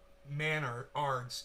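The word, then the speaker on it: Menards: Pronounced Manards. It's the Canadian Home Depot. Manards. Like manners, but Manards, like manners with a D.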